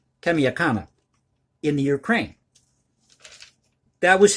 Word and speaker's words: Kamianka: In let me pronounce the town for you here, in Kamianka. Kamianka, Kamianka, in the Ukraine.